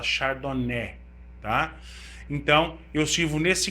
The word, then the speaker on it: chardonnay: a índia pinoar xardoné se escreve chardonnay mas se fala xardoné tá então eu sirvo